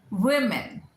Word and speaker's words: women: Woman, one lady, woman, women. ज़्यादा हो गई तो WOMEN is women.